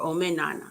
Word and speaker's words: Omenana: Depending on which region you're from, you would say Omenala or Omenana.